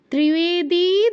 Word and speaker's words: ত্রিবেদী: ত্রিবেদী ত্রিবেদী দিব্য চক্ষুষে, ত্রিবেদী দিতে দীর্ঘ করতে হবে, পরের দিতে কিন্তু আবার রস, প্রথম দিতে দীর্ঘ উচ্চারণ, পরের দিতে রস উচ্চারণ। ত্রিবেদী দিব্য চক্ষুষে, ত্রিবেদী দিব্য চক্ষুষে।